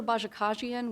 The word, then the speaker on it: Bajakajian: it but it's but under bajakajian which I believe is actually the correct pronunciation um under that case